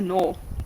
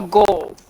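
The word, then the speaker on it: gnoll: What's a knoll? Oh, a knoll? Like K-N-O-L-L? That knoll? G-N-O-L-L. A goal. Knoll. No, okay, so it's, okay. The so G it's is pronounced silent. It's like a no.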